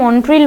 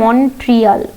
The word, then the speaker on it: Montreal: এটা বাংলাতে এটাকে মন্ট্রিল বলছে, কিন্তু অ্যাকচুয়াল এটার যে উচ্চারণটা সেটা হচ্ছে মন্ট্রিয়াল। ওকে, মন্ট্রিলের ইংলিশ হচ্ছে MONTREAL, ঠিক আছে। তো এটাকে মন্ট্রিয়াল বলে অ্যাকচুয়ালি, কিন্তু বইয়েতে বা সব জায়গায় তুমি মন্ট্রিলই পাবে, এটাকে উচ্চারণ করে না, তো মন্ট্রিল প্রোটোকল বললেও চলবে, একই ব্যাপার, কিছু এসে